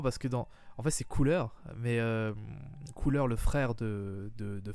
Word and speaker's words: Cooler: pour la première fois, il s'appelle pas Cooler mais Kula. En fait, il le prononce les acteurs français le prononcent son nom à la japonaise, Kula.